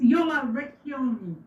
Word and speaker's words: Jola Recchioni: But it's Jola Recchioni.